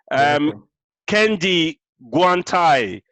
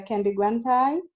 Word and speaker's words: Kendi Guantai: Kendi Guantai. Sorry if I didn't pronounce that right. You pronounced it perfectly. Thank you. Thank you. Okay, my name is Dr. Kendi Guantai, and I am a lecturer at the Leeds University Business School.